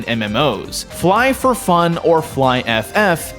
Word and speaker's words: Flyff: Fly for Fun or fly FF and apparently pronounced by the community as fly is that MMO RPG